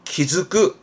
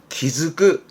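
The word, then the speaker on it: 気付く: 그 키가 쯔끄를 묶어서 키즈끄, 쯔의 땡땡에 즈, 키즈끄, 키즈끄라고도 많이 씁니다.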